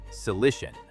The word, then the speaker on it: Cilician: Then move to Tarsus, pronounced Tarsus, and the Cilician Gates, pronounced Cilician.